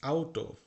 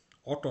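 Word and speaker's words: Auto: তারপর আরও কিছু শব্দ আমরা জানি, দাস আউটো, অটো না কিন্তু দাস আউটো মানে গাড়ি, কার না কিন্তু, গাড়ি এখানে বলে না, এখানে আউটো বলা হয় গাড়িকে।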